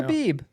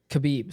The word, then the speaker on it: Khabib: I mean, Or I know- Habib. Or Khabib. Sorry, Habib. It doesn't matter. it doesn't matter. It's how you pronounce Habib. it, but Depends on your location.